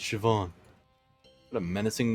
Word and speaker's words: Siobhan: into the hallway from earlier oh a portrait ceo ceo bond siobhan it's pronounced siobhan what a menacing name says here that she